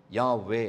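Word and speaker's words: Yahweh: It means Yod He Vav He, YOD HAY WAW HAY, Yod He Vav He, யாவே. அது அப்படி தான் உச்சரிக்கணும்.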